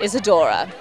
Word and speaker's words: Isadora: I'm here with Isadora. Is that how it's properly pronounced? Correct. Isadora. Isadora.